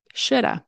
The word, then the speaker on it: should have: is should have okay so should have turns into should have which is pronounced like should of you might see people say should of which it's not really correct to write it like that but you might see that should have turns into Shoulda because remember the of of turns into a sound and the L is never pronounced okay we do not